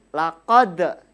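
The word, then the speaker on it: لَقَدْ: Dalnya berbunyi laqad. Di sini anak-anak harus membacanya dengan cara memantul. Laqad.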